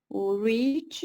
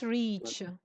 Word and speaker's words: rich: and they are very rich very good yes they're very rich not reach no Shar this is reach with long e that one is Rich okay short e yes very good it's